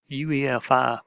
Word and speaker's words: UEFI: firmware interface or UEFI UEFI pronounced UniFi without the N was designed for modern